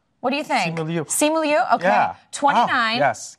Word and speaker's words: Simu Liu: Simu Liu. What do you think? Simu Liu.